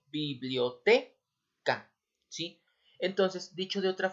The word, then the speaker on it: biblioteca: solo se pronuncia Sí tal es el caso de la palabra biblioteca sí en este caso la sílaba en este caso tónica está en la en la sílaba t biblioteca Sí entonces dicho de